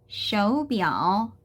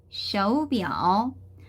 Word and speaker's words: 手表: 자, 마지막 단어는 手表, 手表. 자, 삼성이기 때문에 이성 삼성으로 발음되는 거에 주의를 해주시고요.